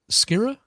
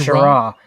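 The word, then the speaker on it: Schirra: Walter Skira. Shara. It's pronounced Shara.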